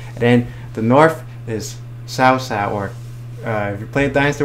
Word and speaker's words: Cao Cao: Or you speak Cantonese, Cho Cho, yeah. So like every dialect, like everyone pronounces differently. I'm sure there's the most proper way. The Mandarin way is the most preferred proper way in China, but yeah, I think it's Cao Cao in China.